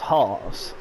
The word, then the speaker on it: Haas: But I'm British, and I say how it's actually how it looks to us English speakers.